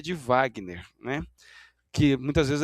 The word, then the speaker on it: Wagner: de Washington e de som de V de Wagner, né?